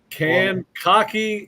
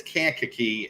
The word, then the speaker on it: Kankakee: tackle in America from can cocky Illinois that's that's listen it's Kankakee and my wife my